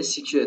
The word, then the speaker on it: SQL: اما اگه آموزش های خارجی رو ببینید سیکیور تلفظ میشه.